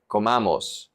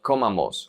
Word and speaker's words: comamos: Here, there are 3 syllables. Comamos. So we say comamos, not comamos or comamos.